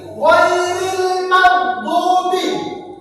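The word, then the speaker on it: غَيْرِ الْمَغْضُوبِ: Huruf alif lam sukun bertemu dengan huruf mim, dibacanya jelas. Coba ikuti, ghairil maghdubi. Lam sukun bertemu huruf mim dibaca jelas atau terang, tidak dibaca melebur atau didengungkan.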